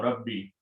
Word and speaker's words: Rabbi: So we keep the sound of kasra and don't give it, otherwise it's hard to pronounce. Rabboyi, Rabbi. So this is the word now, Rabbi.